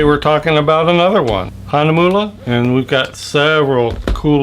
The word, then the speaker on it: Hahnemühle: what it looks like Hana moolah rhymes with yuo fula anyway I'm going to